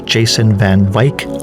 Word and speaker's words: van Wyk: It's pronounced differently. I stand corrected. It's Jason van Wyk, like bike.